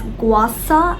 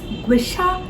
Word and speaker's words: gua sha: This thing is called gua sha. Some people pronounce it as guasa and some people pronounce it as guisha.